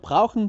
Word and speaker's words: brauchen: O sea, en el alemán hablado, a veces esa E que va al último es casi que no se pronuncia. Por ejemplo, brauchen Sie Brauchen. Hilfe? Brauchen Sie Hilfe? Brauchen. Es como que ¿dónde está la E? Se fue, ¿no? Es como brauchen.